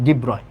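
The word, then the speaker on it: de Broglie: তারপরে ডিব্রয়, ওকে, এটার অ্যাকচুয়াল উচ্চারণ হচ্ছে ডিব্রয়। তো ডিব্রগলি কি বলছে?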